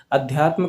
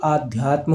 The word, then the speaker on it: अध्यात्म: अध्यात्म कैसे लिखा जाएगा, ना कि आध्यात्म होगा, अध्यात्म।